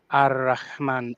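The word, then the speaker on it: الرحمن: We know that this is supposed to be read Ar-Rahman, Ar-Rahim, but we will say Al-Rahman, Al-Rahim, pronouncing the Alif Lam very clearly, because people listening, they will probably not actually speak Arabic. So that's not how it is pronounced in the Arabic.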